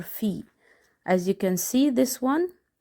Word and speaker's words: Phi: Next letter is called Phi, and it's for the letter F.